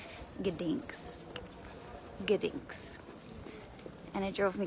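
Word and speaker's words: Gdańsk: name of the city I was calling it Don but it's ginks ginks and it drove me crazy cuz I thought people were mispronouncing it and it's gink so yeah I'm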